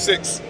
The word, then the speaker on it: Syxx: My name's Six. 6? 6. I love that name. It's like the number, but it's spelled different.